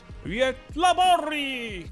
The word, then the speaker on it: Göteborg: G is usually softened into a E sound. Göteborg.